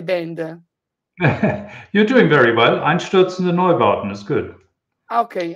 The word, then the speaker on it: Einstürzende Neubauten: Can you say to me the right pronunciation of the band? You're doing very well. Einstürzende Neubauten is good.